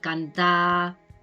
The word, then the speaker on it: cantar: También en el catalán oriental, normalmente las R's al final de palabra no suenan, normalmente. Hay palabras, por ejemplo, mar, pues que sí, pero normalmente cuando son sobre todo verbos, ¿no? Fer, cantar, dormir, no se pronuncia la R al final.